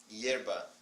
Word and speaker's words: hierba: So, no H, or I may stop Yeah, pronouncing. the Hier- H doesn't have yeah, sound. hierba.